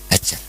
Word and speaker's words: Hajar: Hajar. Ada yang membacanya Hajar, ada yang membacanya Hajar. Ya, karena dalam beberapa teks memang ditulis dengan huruf H; Dalam Bukhari, beberapa ditulis dengan apa? Hamzah.